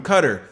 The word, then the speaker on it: Qatar: John Truby, the director of the Center for Law and Development at Qatar University, or Qatar, depending on how you pronounce it. Pronounced Qatar, though, for those who know.